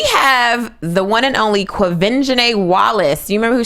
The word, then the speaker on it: Quvenzhané: It is Quvenzhané because I had to Google how her mom said it, and her mom said Quvenzhané because I really was just like, how do you say this baby's name?